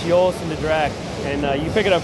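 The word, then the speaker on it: Joris en de Draak: the owner speaking of it, and clearly it's Joost de Draak, and you pick it up pretty quick that way.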